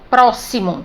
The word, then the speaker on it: próximo: E na palavra próximo, grafado com X, mas a pronúncia é si, ó, próximo, som C.